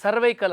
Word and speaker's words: cervical: ಇದು ಕುತ್ತಿಗೆ ಜಾಗದಲ್ಲಿ ಇದೆಯಲ್ಲ ಇಂಗ್ಲಿಷ್ನಲ್ಲಿ ಸರ್ವೈಕಲ್ ಅಂತಾರೆ ಸರ್ವಿಕಲ್ ಅಂತಾರೆ ಸರ್ವೈಕಲ್ ಅಂತಾರೆ ಉಚ್ಚಾರಣೆ ಹೆಂಗಾನ ಹೇಳಬಹುದು ನಮ್ದು ಇದನ್ನ ಪಿನ್ನರಿವಾದಂ ಅಂತಾರೆ